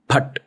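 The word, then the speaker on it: फट्: But ठीक है और इसमें the pronunciation has to be PH, not F. Bhat.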